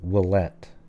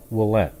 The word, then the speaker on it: Ouellette: So I think her name is pronounced Ashley Ouellette, even though it's O-U, but that's how they seem to pronounce it.